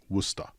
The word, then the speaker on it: Worcester: He later went to Worcester Polytechnic Institute, and yes, it is pronounced Worcester.